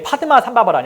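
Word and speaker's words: पद्मसम्भव: 대사가 이제 그 유명한 국내에 이제 파드마 삼바바라니 알려져 있죠. 원래 발음은 이제 빠드마 삼바바입니다.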